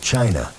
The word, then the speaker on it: qi: In ancient China, health was never just about flesh and bone. It was about energy. The invisible, vital force called qi, pronounced chi, flowed through every living being.